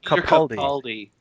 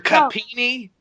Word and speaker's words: Capaldi: 24 hours or so, one of you want to pronounce his name? Peter Capaldi. Because we all know I cannot be trusted with names. Peter Capini?